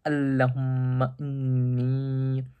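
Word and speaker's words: اللهم إني: En fait, je me suis trompé au début sur la prononciation, c'est Allahumma inni.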